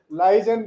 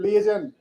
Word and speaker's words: liaison: Liaison looks very foolish. It is liaison.